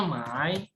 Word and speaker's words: 买: Mai membeli itu bukan Mei ya? Bukan Mei. Tapi bacanya Mai.